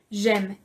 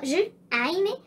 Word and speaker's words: j'aime: J'aime. Y se va a pronunciar j'aime. No, je, aime o no. J'aime completito. El j'aime significa me gusta o amo.